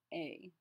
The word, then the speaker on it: est: Our second version to say my name is would be mon nom a. Mon nom a. Note that our EST is pronounced A.